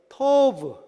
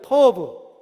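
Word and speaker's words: טוֹב: 그래서 이렇게 생긴 건 T자, T 발음이에요. 그리고 이렇게 해서 점 찍어 있는 건 O 발음. 그리고 여기에 그 같이 생긴 그거는 V 발음. 그래서 토브. 한번 따라해요. 토브. 토브.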